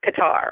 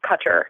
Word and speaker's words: Qatar: uh Doha in uh Qatar or Cutter depending on how you want to pronounce it and there are a